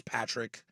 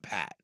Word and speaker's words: Patrick: a jerk but uh my name is Patrick not Pat and there always like